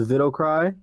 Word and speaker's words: Widowcry: On Instagram, Widowcry is pronounced Vidocry.